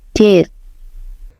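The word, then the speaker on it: debt: Aku suka reflek bilang debet. Padahal huruf B di situ kayak lagi ngumpet, enggak mau bunyi. Tepat sekali. Itu namanya silent letter. Huruf B dikata deep memang enggak dibaca, jadi pengucapannya cukup did.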